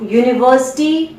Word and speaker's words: university: Now university, its spelling is starting with U, which is a vowel, but its pronunciation is starting with U, ya. This ya. So its sound is starting with a consonant sound.